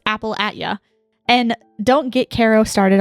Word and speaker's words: Appalachia: up to find her I had not yet learned the rules of Appalachia it's definitely pronounced Apple you and don't get Carol